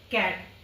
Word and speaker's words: cat: जैसे कि सी के बाद ए आया है, वॉल आया है ए, तो इसको हम क्या प्रोनाउंस करेंगे, कैट। और सर्कल, सी के बाद